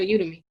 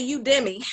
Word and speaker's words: Udemy: I always tell my clients, I said, don't you ever go in there and buy nothing on the full price for Udemy, because they gonna have a sale next week.